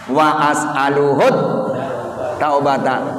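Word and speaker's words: وأسأله التوبة: Wa as'aluhut taubata. Bukan luhut sono, bukan. Tadinya wa as'aluhu begitu. Disambung dengan at-taubata. Jadi bacanya wa as'aluhut taubata. Gitu ya.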